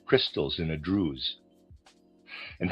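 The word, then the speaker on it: druse: so as to see how the sensory supra sensory dwells within it in various forms like crystals in a drews and how because they are in their drews their surfaces are truncated.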